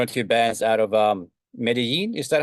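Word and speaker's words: Medellín: I mean, I knew one or two bands out of Medellin. Is that how you pronounce it?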